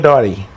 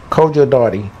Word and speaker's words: Dartey: Kojo Dartey. Dartey. D-A-R-T-E-Y. Oh, your T, I didn't hear it in your pronunciation. D-A-R-T-E-Y. Kojo Dartey.